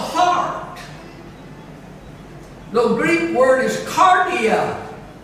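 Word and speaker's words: kardia: what is the heart the greek word is cardiac spelled with a k k-a-r-d-i-a we get our word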